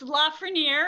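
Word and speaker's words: Lafrenière: of your last name is it lafrenier it's lafer is how I say it laer but laier is perfectly acceptable okay trust me with a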